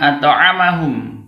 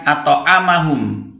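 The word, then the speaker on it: أَطْعَمَهُمْ: Ini yang benar membacanya at'amahum, bukan at'amahum. Bedakan antara a dengan a.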